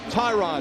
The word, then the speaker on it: Tyrod: And by the way, it is pronounced Tyrod.